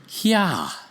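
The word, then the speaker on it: יה: So, the first two letters form the sound Yah. Notice, not Y or you or yo or any other sound. It's Yah.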